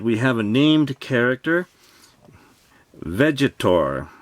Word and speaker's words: Vegetor: Here is the front of the box, and we have a named character, Vegetor. I think it is Vegetor and not Vegator.